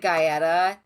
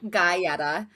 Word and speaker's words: Guetta: Like, because it was isn't it David Guetta or Yeah. yes, David okay. Guetta. David Guetta. David Guetta, Guetta. right? Yeah, not Yeah. me calling the name wrong. David Guetta. David Guy Fieri, David Guyetta.